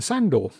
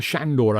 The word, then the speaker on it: Sandor: do get is father sandor father shandor i think it's pronounced andrew kia who's another